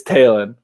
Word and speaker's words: Talen: the same way so i disagree with how the phonetics of his name are pronounced it's taylon so i'm gonna i'm